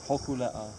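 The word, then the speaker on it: Hōkūleʻa: I'm the navigator on some of the legs on board of our canoe, which is Hokulea.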